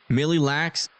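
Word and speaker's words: Mille Lacs: Millie lax means a thousand likes. So this is the one case that you guys are wrong. Even though that's how you guys have been pronouncing it. You've just been pronouncing it wrong.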